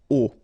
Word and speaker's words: au: change at all and then a will become O A but then remember that phonetically it's O Okay so that's the